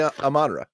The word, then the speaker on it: Amon-Ra: Yeah, that's how you say it. It would be Amon-Ra.